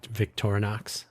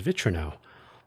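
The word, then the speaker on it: Victorinox: V Vtorox by the way that is how you say that.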